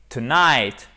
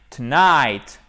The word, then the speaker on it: tonight: faces d'une même pièce donc il faut prononcer tonight tonight mais on n'oublie pas quand même de bien prononcer la première syllabe c'est pas parce qu'elle n'est pas accentuer qui vous faire night lights non tonight tonight tonight ok ce qui signifie ce